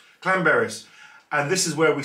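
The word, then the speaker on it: Llanberis: it i think it's clan berris clan berries it looks like lambert's but it's not yeah if you've got two elves in wales it's apparently clan berries and this is where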